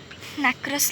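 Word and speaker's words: nacreous: Then last layer है नैक्रियस layer. Pronunciation बहुत अजीब है इसके, लेकिन नैक्रस लेयर।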